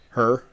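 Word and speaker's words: H.E.R.: year mark um um her is that how you say it h just H dot e Dot are her yeah we got you yeah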